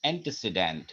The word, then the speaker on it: antecedent: এটাকে আবার আমরা রিলেটিভ প্রোনাউনও বলছি কারণ এটা কিন্তু একটা রিলেশনশিপ তৈরি করছে আগের নাউনের সাথে, which is called its antecedent.